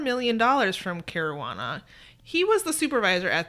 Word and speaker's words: Caruana: So this is about Salvatore Caruana. Who I think it rhymes with marijuana.